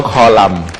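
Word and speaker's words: คอลัมน์: นี่ เขา มี คอลัม ขอ อนุญาต อ่าน ว่า คอลัม แบบ แบบ ร่า บัณฑิตยสถาน บอก ว่า ถ้า มัน ยัง ไม่ มี ไม้ โท ไม้ ตี ไม้ เอก ต้อง อ่าน ว่า คอลัม นี่ ฮะ ศึก 2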